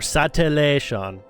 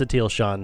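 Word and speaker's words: Satele Shan: English satil Shan or sat Shan depending on how you I mean it's it's pronounced satil Shan she pronounces her own name that way but cre character yes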